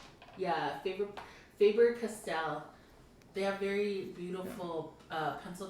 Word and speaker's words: Faber-Castell: So I think it's pronounced Faber-Castell. Yeah, Faber-Castell.